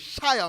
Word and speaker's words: Shia: It's not Shish Moore, it's Shia Moore. So I was pronouncing it incorrectly.